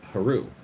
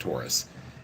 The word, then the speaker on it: Horus: the god horus and apparently his name was pronounced hero and not pronounced taurus and this other uh individual there's a youtube